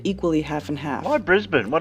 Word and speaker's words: Brisbane: Pronounce Brisbane. It's Brisbane, but that's fine.